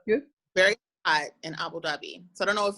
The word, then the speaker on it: Dhabi: D-H-A-B-I. Oh, I forgot the H, of course. Silent H, yes, of course.